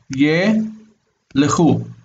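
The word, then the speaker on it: ילכו: So traditionally, this would be a two-syllable word. Ye, lechu. This is a two-syllable word because schwa doesn't count as its own syllable. So ye is a syllable and lechu is a syllable. So the lamed and the kaf are just run together in pronunciation.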